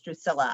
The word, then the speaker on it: Drusilla: why i keep saying you see like it's a spanish pronunciation i'm quite sure it's drusilla i just i'm pronouncing it wrong sorry about that why